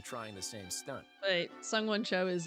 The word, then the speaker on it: Sungwon: I sang, I have sung. The past tense of win is won. Sungwon.